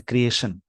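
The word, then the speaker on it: creation: देखिए यहाँ पे क्या है, टी, वैसे तो TION वाला वर्ड नाउन है, इसका प्रोनाउंसिएशन शन होता है, जैसे क्रिएशन, इसको क्या बोलते हैं, क्रिएशन। जिस वर्ड के लास्ट में शन यानी TION लगा हो, इसका प्रोनाउंसिएशन ही होगा शन, शाम वाला श।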